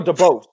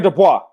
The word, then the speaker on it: Dubois: out daniel dubose beats his ass bro right daniel dubois sorry that's how you say his name he beats his ass